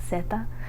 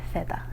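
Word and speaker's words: zeta: lot of other countries, you just read the letter Z as an S, same sound, basically as an S. Um which is why we pronounce it like just seta.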